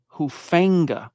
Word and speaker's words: Hufanga: Talanoa for a minute, pronounced his last name Hufanga, like a snake with fangs. Hufanga.